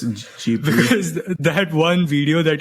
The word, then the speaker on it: Ghibli: Yeah, even Google says Jibli.